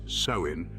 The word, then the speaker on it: Samhain: Samhain, pronounced Samhain, marked the end of the bountiful harvest season and heralded the beginning of the long, cold winter, often associated with human death.